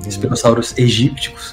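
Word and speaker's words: Spinosaurus aegyptiacus: Spinosaurus aegypticus, a melhor pronúncia é essa mesmo.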